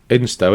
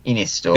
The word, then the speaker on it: Ynystawe: Instow, isn't it? No, it's in Wales. YNYSTAWE. Inistore. It is Stowe. I'm pronouncing it. Inistore. Yeah, it could be that. Yeah, it is that.